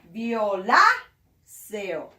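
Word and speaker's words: violáceo: one here viola sale remember when the center is here that means that the force of pronunciation goes on this letter which you have to be like viola sale blue purple or blue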